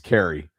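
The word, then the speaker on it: Keary: Yeah, and I got to correct myself from yesterday cuz I steered you down the wrong pronunciation path. It's Carrey.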